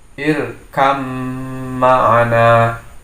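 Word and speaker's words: ارْكَبْ مَعَنَا: Jadi ba-nya tidak terbaca jelas. Di sini terjadinya atau idgham kamilah. Jadi diidghamkan idgham secara sempurna. Jadi membaca menjadi irkam ma'ana, ya.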